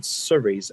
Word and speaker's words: Surrey: century, originally noting a Surrey cart, which was first made in Surrey. First made in Surrey. Okay. All right. So well And left. it rhymes with curry.